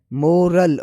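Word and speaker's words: morale: अब इनकी प्रोनाउंसिएशन में थोड़ा सा फर्क है। जैसे कि उर्दू साउंड देखा जाए तो पहला पहले जो है मोरल और दूसरा है मोरल। मोराल फर्क वोवेल और एंडिंग साउंड में है जो सुनते ही क्लियर लगता है।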